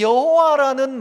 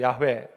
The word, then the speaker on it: 야훼: 그런데 시간이 좀 더 지나면서 이 여호와라는 말 자체가 이게 좀 틀린 거다, 발음이. 그래서 요즘 목사님들 중에 보면 여호와라고 하지 않고 뭐라고 하시던가요? 야훼 그러죠. 야훼. 그 야훼라고 하는 겁니다. 이게 야훼가 더 맞다, 아니다, 그냥 여호와 써도